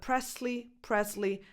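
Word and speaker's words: Presley: But , they're both accepted pronunciations.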